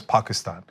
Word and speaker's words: Pakistan: cuz they're like oh he pronounces Pakistan correctly when he says Pakistan oh he went to